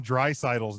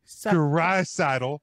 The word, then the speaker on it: Draisaitl: Well, I am impressed that he did get Leon Draisaitl's name pronounced correctly. He practiced it while he was giving the. Draisaitl.